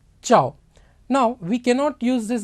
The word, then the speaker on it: ciao: you say this ciao cia is pronounced as cha so ciao now we cannot use